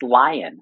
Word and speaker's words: Lyon: It's Lyon, actually. It's like the Lyon. Animal.